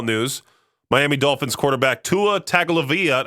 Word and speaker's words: Tagovailoa: In pro football news, Miami Dolphins quarterback Tua Tagovailoa, I don't know how you say this guy's last name, Tagovailoa, that's how you say it, is preparing to return after his latest concussion.